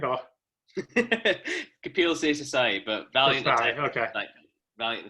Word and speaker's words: Kapil Seshasayee: So our special guest is art rock musician, Kapil Seshasayee. Did I pronounce that right? Or? Kapil Seshasayee, but valiant attempt.